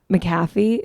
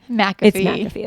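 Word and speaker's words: McAfee: think it was Pat maffy who every time I say his name I have to Google is it mcafe or maffy mcafe okay thank you I said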